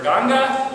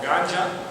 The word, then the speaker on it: Ganga: They are Ganga, or Ganja, which I'm reluctant to call it Ganja, although it can be pronounced several ways. Ganja, people think you're Rastafarian.